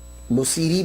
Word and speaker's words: Busiri: की तो इसलिए आपको बुसीरा भी बुसीरी भी कहा जाता है। सैरी भी प्रोनाउंसिएशन बोलते हैं लेकिन बुसीरी ज्यादातर जो है वो बोला जाता है।